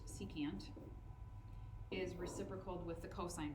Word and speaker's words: secant: on that same note sec which is pronounced secant is reciprocal with the